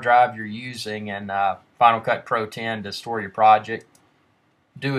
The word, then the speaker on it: Final Cut Pro X: to do today is Final Cut Pro X well it's actually pronounced Final Cut Pro 10 but what we're going